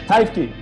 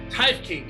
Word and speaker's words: Teifke: Teifke. Teifke.